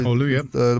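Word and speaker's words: Oulu: Um Scott and I were in um Hulu, isn't it? It's pronounced Hulu.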